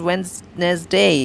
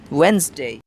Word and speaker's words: Wednesday: often mispronounced the word they like to say when's Nez day and they make a trisyllabic wednet steak but come on it's not about your wedding it's not Wednesday it's Wednesday Wednesday it is D salad word the D after the e is silent and makes a when's